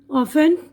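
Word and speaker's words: often: है अब इसके बादय टी की आवाज साइलेंट है यहां पर देखिए सेंट जल्दी करना लिसन सुनना ऑफें अक्सर सफन नर्म ठीक है ना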